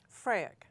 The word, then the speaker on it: FRAEC: FRAEC.